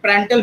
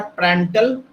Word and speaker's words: Prandtl: तो यहाँ पे यू डैश जो हो जाएगा वो क्या हो जाएगा, तो उन्होंने एक प्रेंटल मिक्सिंग लेंथ से एक एक्सप्रेशन दिया जिसको बोला जाता है L into du by dy।